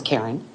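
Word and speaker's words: Carren: My first name is spelled C A R R E N. It's Karen.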